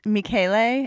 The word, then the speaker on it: Michele: me after him and in Italian it's me Kayli and it's spelled like Michelle with one L O so my name